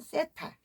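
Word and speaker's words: θήτα: 한국말 그다음에 요거는 세타. 이건 뭐예요? 디귿과 시옷 받침 나는데 우리가 보통 하나님하고 할 때 이렇게 많이 쓰시죠. 어 이게 뭐냐면 세타. 이거 데타라고도 합니다.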